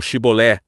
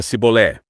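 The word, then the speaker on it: שיבולת: Enquanto os gileaditas pronunciavam Shibolé, Shibolé, da boca dos efraimitas só saía Sibolé.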